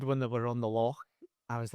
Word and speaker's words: loch: Well, the episode when they were on the lock, I was like, it's lock, not lock. It's lock.